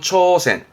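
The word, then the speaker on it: 挑戦: 도전의 도자였습니다. 발음은 초센.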